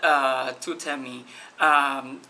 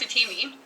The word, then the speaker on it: TUTEEMI: Okay, so actually TUTEEMI is actually pronounced TUTEEMI. Thank you. Because it comes from the word tutee. You know, like a mentor has a mentee, and a tutor has a tutee.